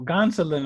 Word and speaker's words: Gonsolin: I'm looking for this pronunciation. It looks like it's not Gonsolin. No, Gonsolin.